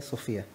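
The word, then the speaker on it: σοφία: en el griego sofía pero con una p h ya se pronuncia sofía y esta palabra significa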